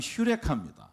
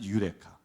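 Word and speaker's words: εὕρηκα: 이제 라틴어의 음가로 번역되면서 우리가 유레카 그러지만 사실은 헬라 발음으로 하면 휴레카 그런데 이제 라틴어로 반이 되면서 유레카 제가 그 김영민 교수님이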